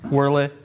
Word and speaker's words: Wurlitzer: Wurlitzer. That's how you actually pronounce it.